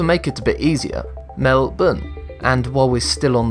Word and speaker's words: Melbourne: Looking at the name, it screams to be pronounced Melbourne.